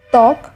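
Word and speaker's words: ত্বক: বর্ণের উচ্চারণে স্বতন্ত্র আছে শব্দের আদিতে ব ফলার উচ্চারণ হয় না যেমন তক শশুর স্বাধীন শব্দের মধ্যে বা শেষে বফলা যুক্ত হলে সেই ব্যঞ্জনে দ্বিতীয় উচ্চারণ হয়।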